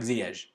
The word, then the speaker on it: Ziyech: they asked him, so how is it actually pronounced? And he says like Ziyech.